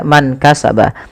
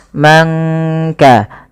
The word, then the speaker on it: من كسب: Kemudian man kasaba, tidak kita baca man kasaba, tapi disamarkan suara nunnya kepada huruf kaf. Mangka, angka, langsung kepada makhraj daripada huruf kaf itu sendiri. Bala angka, ya. Dan di sini kita hukumi dengan bacaan ikhfa.